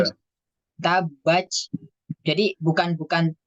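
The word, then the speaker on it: تبت: Ya, jadi bukan ta tapi ca. Tabaj. Nah, itu. Nah, kita perhatikan lagi sifat-sifat dari huruf ta. Nah, sifat dari huruf ta kan sifatnya hamas. Jadi nanti bacanya bukan tabat. Kalau tabat kan dia tidak mengeluarkan nafas.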